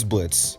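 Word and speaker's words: Blitzø: This is Blitz, even though his name has an O in it like Blitzo, but the O is silent.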